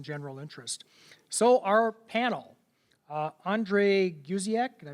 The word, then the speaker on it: Andre Guziak: So our panel, Andre Guziak, did I pronounce it right?